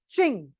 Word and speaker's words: Qing: किंग dynasty, जिसे हम बोलते हैं चिंग, QING। ये डायनेस्टी का बहुत बड़ा इंपॉर्टेंट रोल था, जिसको किंग, चिंग, अलग अलग नाम से आप जानते हैं, प्रोनाउंसिएशन का अंतर है।